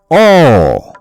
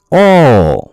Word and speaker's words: অ: ছোট্ট সোনামণিরা, আজ আমরা বাংলা স্বরবর্ণের সঠিক উচ্চারণ শিখব। চলো শুরু করা যাক। এটাকে আমরা কি বলি? এটা হচ্ছে অ। এটাকে বলা হয় অ।